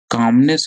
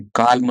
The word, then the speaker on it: calm: नहीं है जान लो कि इसमें एल साइलेंट होता है, CALM, इसको कैसे पढ़ते हैं, काम, काल्म नहीं पढ़ेंगे इसको, काम पढ़ेंगे, CAM, काम। एल is silent over here.